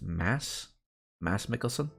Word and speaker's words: Mads Mikkelsen: That reminds me of Mads Mikkelsen, his name is actually pronounced Mads Mikkelsen.